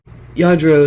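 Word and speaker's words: Lladró: Yadro is how it's pronounced.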